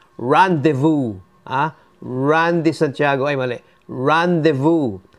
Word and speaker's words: rendezvous: This is pronounced rendezvous, Randy Santiago, ay mali. Rendezvous. Pag sinabing rendezvous, what's that? To rendezvous, it's a French word that became adapted to English American, yung rendezvous is a